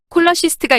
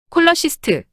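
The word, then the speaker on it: cholecyst: 발음이 될 수 있지만 의학 용어에서 CH는 K로 발음됩니다. 의학 용어에서는 CH, K로 발음되는 점 반드시 기억하세요. 이제 샘플로 확인해 볼까요? 또 다른 예로 담낭을 지칭하는 용어. 콜러시스트가 있습니다. 콜러시스트 담낭.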